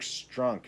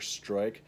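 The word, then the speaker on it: Struik: And they say Dirk Strunk instead of Dirk Stroik. So Stroik is spelled several different ways. Here they spelled it Strunk.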